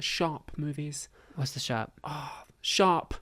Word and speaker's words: Sharpe: Sharp, SHARPE. Sharp. Sharp. Okay. Sharp. All right. With Around your- here, we pronounce our with your R's.